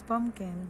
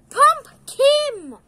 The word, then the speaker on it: pumpkin: It's Liam's pumpkin. There you go. Pumpkin! Pumpkin! Not Pump Kim! Why Kim? It's Kim. Pumpkin.